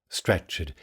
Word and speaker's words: stretched: Stretched here has two syllables.